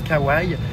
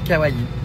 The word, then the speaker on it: kawaii: D'ailleurs, souvent les gens prononcent kawai mais on dit kawaii.